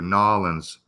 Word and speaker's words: New Orleans: I pronounce it the way the Cajuns do, Nolans. That's how I pronounce it, Nolans.